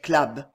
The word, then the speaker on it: club: leur secte le club comme bon méridionaux il prononcé clab on n'entendait que cela